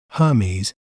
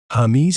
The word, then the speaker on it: Hermès: word to better understand its pronunciation we may pronounce it as heres heres H mes Hermes Hermes is renowned for its iconic pieces such as